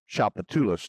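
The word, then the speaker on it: Tchoupitoulas: Chapatulus, that's how that word is pronounced. People look at the address, Chapatulus.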